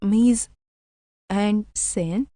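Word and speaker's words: mise-en-scène: instructions to their crew originally in French Miss and sin pronounced M and sin means staging an action and it was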